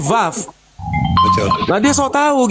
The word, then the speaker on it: vav: YHWH itu Ibrani klasik, YHVH Ya, V itu Ibrani modern. betul. Orang Ibrani sudah tidak menyebut waw lagi tapi vav.